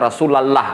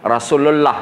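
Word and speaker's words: رسول الله: antara ucapan dengan tulisan kecuali dia dibaca Apabila ada huruf sebelumnya kasrah Billah Nah itu baru dibaca lah Tapi kalau pakai damah sebelumnya atau fathah sebelumnya pasti dibacanya Allah i kan contoh ee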